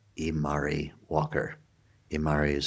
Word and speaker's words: Imari: Her name is Sarah Imari Walker. Imari is spelled I-M-A-R-I.